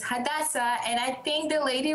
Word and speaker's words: Hadassah: I'm Hada at and people don't usually get my name right but it's hadasa and I think the